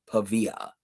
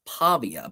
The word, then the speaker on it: Pavia: His name, Diego Pavia. Technically pronounced Pavia, but he prefers to say it Pavia.